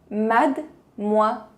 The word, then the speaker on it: mademoiselle: Última dica de pronúncia, mademoiselle. A letra E no meio não se pronuncia.